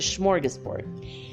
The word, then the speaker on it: smorgasbord: sure they're still there the swedish smorgas schmorge sport there's no sh but that's how you pronounce it smorgasbord and literally once a